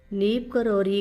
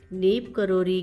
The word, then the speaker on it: नीम करोली: में इसका अर्थ है नीम करोरी के बाबा तथापि गांव के नाम का उच्चारण बारी-बारी से आम दैनिक बोल-चाल की भाषा में नीमकरोरी या नीम करोली किया जाता है तो आप देख सकते